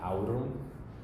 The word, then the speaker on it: aurum: We have au, like aurum, gold.